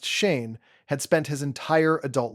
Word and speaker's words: Shan: This is the town where Shan Hanes, pronounced Shane, had spent his entire adult life.